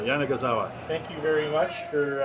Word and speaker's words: Yanagisawa: we can go and I think it's five syllables yeah they got it I think we got it now Jana gazawa thank you very much